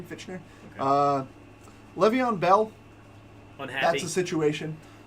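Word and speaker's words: Fichtner: Is how you say his name, Fitchner.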